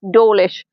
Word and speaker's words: Dawlish: I came to Dawlish because Dawlish is easily pronounced as Dawlish, and I live in Maidstone, but I call it Maidstone.